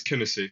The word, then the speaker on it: Kinisy: So, what inspired you to start Kissi? Is that right? Is that how you say it? Kinesi. So, it's Kennessy.